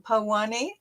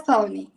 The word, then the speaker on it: Pavani: Is that pronounced Pawani? Yes, Pavani.